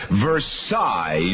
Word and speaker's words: Versailles: You've mispronounced the name of one of our Western New York communities. Oh, come on. V E R S I L L E S. Versailles New York.